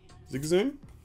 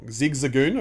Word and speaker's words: Zigzagoon: Ferrothorn, Heatmore, Metal Saucer, Boltoy, Char, Sizzlipede, Zigzoom, I always pronounce it wrong. Zigzagoon, I should say.